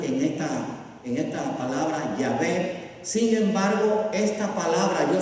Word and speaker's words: Yahvé: aparece después las las se pronuncia yahvé pero aparece sin las vocales pero realmente vamos a